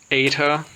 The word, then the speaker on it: eta: And it makes a long a sound. Okay? Like a long a. Okay. as distinguished from the short e sound that epsilon makes.